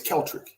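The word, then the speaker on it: Keltric: very similar to russian my name is celtric very simple k-e-l-t-r-i-c there's no d there's no n i've had i've heard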